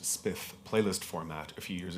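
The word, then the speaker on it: XSPF: So this is one of the reasons why I created uh the XPF pronounced spith playlist format a few years ago with some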